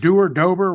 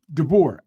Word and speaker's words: DeBoer: Man, you think, okay, how you pronounce Dober, whatever his name is? DeBoer.